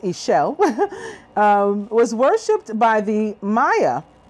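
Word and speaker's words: Ixchel: new things new passions a shell pronounced a shell was worshiped by the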